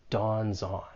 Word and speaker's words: dawns on: And when you're pronouncing this phrase, there's more linking. You can link the final consonant sound in dawns with the vowel sound in on. Dawns on.